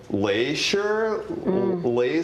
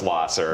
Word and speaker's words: Lahser: street names and was, how would you pronounce Lahser? And I'm like, Laser, and she's like, no, it's Lasser.